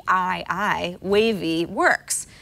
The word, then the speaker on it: Wavii: status updates that's exactly how an app called wavy which is spelled w a v i i wavy works it's not unlike an app like Circa